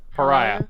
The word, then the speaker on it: pariah: you've become a parrot parrier how do you pronounce that pariah pariah thank you because of the beast inside